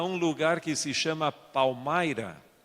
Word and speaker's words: Palmyra: Então, a primeira vez que eu fui a um lugar que se chama Palmyra, se escreve Palmira, pero se pronuncia Palmyra, em estado de Nova